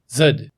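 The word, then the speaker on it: зуд: of the word is a noun that's pronounced more or less zud and which for purposes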